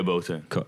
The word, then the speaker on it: Boateng: is it Boateng? Yeah, Boateng.